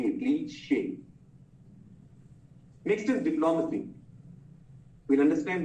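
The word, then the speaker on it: cliché: जैसे क्लीशे, ये वर्ड सुना है आपने? तो उसका जो आखिरी E है ना, it has that slant folio, so it's pronounced as A, क्लीशे.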